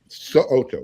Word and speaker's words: So'oto: Make sure you pronounce that last name correctly, because he will correct you if you don't. So'oto, yes.